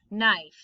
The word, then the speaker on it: knife: of words k n the k is the silent letter so this just makes an n sound no knit new knife knee okay etc you'll